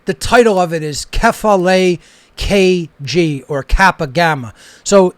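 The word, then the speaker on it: κεφαλή: So you pronounce that Kephale in Greek.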